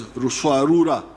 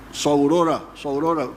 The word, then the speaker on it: Ruswarura: came to understand as Ruswarura. When you read, I think it is Speak, Understand, they write Saurora, but it didn't, they were mispronouncing the name.